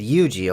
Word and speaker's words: Yuuji: I said Yuuji, okay?